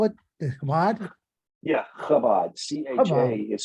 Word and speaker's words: Chabad: Yeah, Chabad. CHA Chabad. is spelled Chabad.